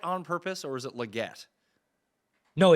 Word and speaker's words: Legette: that is how you it's Le get that's that's how you say it is that how he said you say it because I can't understand a word he says that's how yes that is how because it's it's French right so it' be